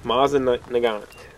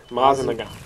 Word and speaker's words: Mosin Nagant: How you pronounce that? Mosin Nagant. Mosin Nagant.